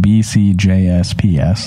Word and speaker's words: BCJsPs: is how it's spelled b CJs PS that's the spelling the pronunciation again is B C J's P's so it's like the J and the P are plural you know right but